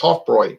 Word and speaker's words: Hofbräu: I just picked up some beer at Total Wine, drinking a Hofbrau right now. Hofbräu. A German woman told me it's pronounced Hofbräu.